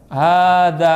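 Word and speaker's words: هذا: madnya panjangnya enggak ditulis contoh hadza h tulisannya begini Danya panjang ada Mad ininya enggak ada bacanya panjang enggak panjang hadza bacanya kenapa enggak begini tulisannya hadza fahimtum jelas Kenapa ada sebagian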